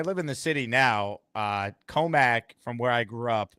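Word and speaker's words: Commack: And then my second question to you is, how far are you from Comiac? Comiac? Yeah. Is that how you pronounce it? Comac or Comiac? Do you mean Comac?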